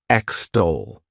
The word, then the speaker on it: extol: verb is extol to extol this word has two syllables and the stress is on that second syllable extol what it means is